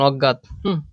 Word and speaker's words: অজ্ঞাত: হবে একটু বুঝো বুঝো অ থাকলে আমি জানি উ হয় কিন্তু এমন কিছু নেগেটিভ শব্দ আছে যেগুলার অ থাকলে অয় যেমন অজ্ঞাত অজ্ঞান এরপর অদ্বিতীয় ঠিক আছে